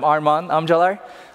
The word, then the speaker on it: Armagan Amcalar: I'm Armagan Amcalar. That's the correct pronunciation of my name.